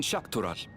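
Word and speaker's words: Xak Tural: The Chatona, as my people are called, have settlements mainly in the north in Shakural. Shakarol. So is X pronounced as sh?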